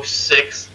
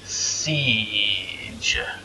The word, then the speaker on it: Siege: time of uh Rainbow Six Siege uh it's it's pronounced SI no no it's Siege don't be dumb oh